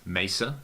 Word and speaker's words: Mesa: messa in the states mesa i guess is you know would be the correct pronunciation but we all say messer in australia and they put